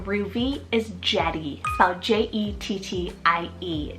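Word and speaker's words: Jettie: something very playful again just like Ruby is Jetty so j-e-t-t-i-e Jetty I love how you can incorporate jet as a nickname for your little girl very powerful and strong and Jetty literally means jet Darby spelled d-a-r-b-y Darby this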